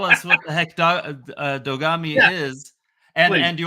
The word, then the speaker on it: Dogami: wait first tell us what the heck dog dogami is and and do you want to settle it if I as an American I say dogami but it's dogami right it it it comes from the the